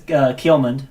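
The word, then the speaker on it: Ceolmund: My name is Kielmund, by the way.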